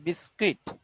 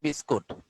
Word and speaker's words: biscuit: বিস্কুইট না, ইংরেজি উচ্চারণ হচ্ছে বিস্কুইট, বিস্কুইট বাংলায় বিস্কুট।